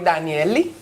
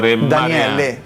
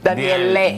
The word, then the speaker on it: Daniele: Well, grazie, signori Danielli. Just kidding. Signore Daniele. Daniele. Yeah, because the E we pronounce like a hard E.